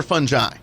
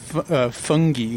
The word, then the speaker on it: fungi: I think it is it's derived from Latin I think so it's like a hard G or a soft G there might be some debate but either one is correct yeah okay I think